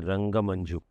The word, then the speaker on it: RangaManju: Am I pronouncing your name correctly when I say Rangamanju? Yes, sir. Huh? Yes. The pronunciation is correct?